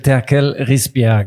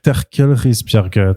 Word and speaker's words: Terkel Risbjerg: Donc, je m'appelle Terkel Risbjerg. Voilà, Terkel Risbjerg.